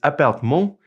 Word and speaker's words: appartement: And now in French, the word apartment is almost the same. It's appartement.